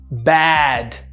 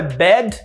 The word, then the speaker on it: bad: Bad. A pronúncia, bad. Abriu, bad, bad. Não é bed, bed é cama, esse é o bad, bad. Open é bad.